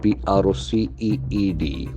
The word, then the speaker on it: proceed: PROCEED. Proceed. Proceed. Accent falls on the second syllable.